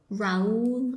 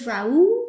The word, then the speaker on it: Rauw: Raul. I love that. That's not Raul. Raul? There's no L there. But it's Rauw.